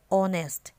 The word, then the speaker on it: honest: For example, our honest, where the letter H is silent but it has the sound of a vowel.